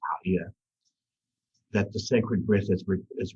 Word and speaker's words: Gaia: And when you align to this, you understand that Ha'ia or Gaia, as mostly the Americans say Gaia, but it is pronounced Ha'ia, that the sacred breath is returned to the light.